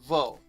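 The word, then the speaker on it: वह: about yah and vow in random regular conversational spoken hindi yah is pronounced yeah and vow is pronounced whoa so just be aware of that and if you're speaking probably just default to yeah and vote even though as written it'll probably be yah and vow so the next ones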